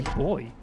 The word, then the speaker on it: buoy: How do you say it? Buoy or buoy? Yeah, buoy. David Buoy. I just say boy.